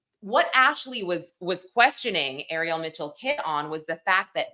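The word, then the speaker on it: Ariel Mitchell-Kidd: know but the other really insane lawsuit and Ariel Mitchell kid that's how that's how her name is pronounced she was questioned about this by Ashley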